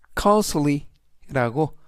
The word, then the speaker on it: costly: 이번 단어는 cly costly라고 발음하시면 되겠고요. 이때 강세는 코의 강세가 있습니다. 그리고 t는 묵음은 아니지만 이번 단어에서 발음이 거의 되지 않고요.